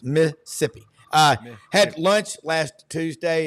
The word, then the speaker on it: Mississippi: and super talk Mississippi it's two syllables Missippi uh had lunch last